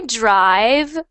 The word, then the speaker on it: drive: for me drive so when you do the V sound make sure it does not sound like an F like drive drive it is drive and that V sound is a voiced voiced so it should be um I guess like a louder sound drive drive drive drive there